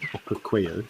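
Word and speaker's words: Okaukuejo: This is now, we come about 3,000 kilometers west across 3 countries and are now in Namibia's Etosha National Park at Okukweyo, sorry, that's how you say it, Okukweyo.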